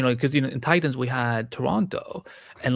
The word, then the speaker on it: Toronto: Toronto. And that's how you say it. If you want to sound like you're from here, do not pronounce that last T. Toronto is USA anywhere.